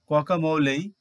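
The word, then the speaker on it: guacamole: and other edable things word number 25 its pronunciation is camole or camole it is a Mexican dish made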